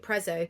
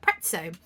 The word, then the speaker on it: Prezzo: I call it pretzo because it's spelled like pizza and it's Italian but I know most people call it Prezzo and actually I am